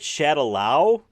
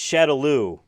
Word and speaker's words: Shadaloo: It's not called Shadaloo, it's Shadaloo. There's 2 O's at the end there. That's how everyone pronounces it in the games and all that stuff.